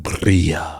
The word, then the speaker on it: birria: You have to roll it like birria.